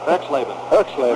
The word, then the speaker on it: Erxleben: How do you pronounce it? Erxleben.